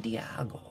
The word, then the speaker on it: Diego: Today we're going to be breaking down Diego Castillo's mechanics, or some people like to pronounce it, Diago, which of course in German means.